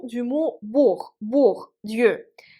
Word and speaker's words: Бог: Dans le mot bourg, Dieu, à la fin, on prononce h comme dans le mot хорошо, bien.